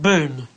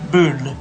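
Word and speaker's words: Boone: Boon just about right boon with an n b n e Boon Boon Boon Boon Boon yeah Boon yeah not D not boond Boon Bo Boon that's right Pat Boon Pat Boon while CJ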